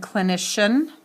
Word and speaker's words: clinician: And then again, clinician, C-L-I-N-I-C-I-A-N. Underline the base word. Clinic, clinician. So it changes the hard C sound and where the accent is.